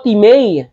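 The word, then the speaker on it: τιμή: sa Greek word po te o ang spelling po ay time parang time kong babasahin t i m e pero ang pronunciation po nito Te ano pong ibig sabihin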